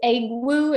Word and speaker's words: Egwu: I believe it's Egwu. Am I pronouncing it right?